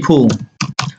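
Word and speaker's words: poor: তাহলে বলছে টাকা পেয়ে গরিবকে ভুলে যেও না, তাহলে কি হচ্ছে টু get money don't forget কি ফু, ডোন্ট ফরগেট ফু, পোর হবে না ফো, আর এর উচ্চারণ ফো, টু get money don't forget ফো, ঠিক আছে।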